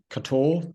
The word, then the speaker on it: Kotor: I'm in Montenegro and in a place named Kotor, that's what the locals say, or Kotor, Kotor.